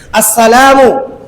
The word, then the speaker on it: আসসালামু: আসসালামু বলেন। আসসালামু আসসালামু আলাইকুম আলাইকুম আমি কেন সালামটা শিখাচ্ছি এর কারণটা বলি। অনেকে আমরা সালাম দেই। সালামু আলাইকুম। আমরা অনেকে বলি সালকুম সালকুম।